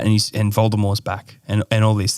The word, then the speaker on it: Voldemort: know is that Voldemort the t is silent it's a French word why did they why